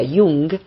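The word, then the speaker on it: Jung: llamó kart y um se escribe con jota se pronuncia hyung j ng el psiquiatra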